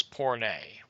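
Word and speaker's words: πόρνη: feminine and this is the Greek word, the pronunciation on it is porne, okay?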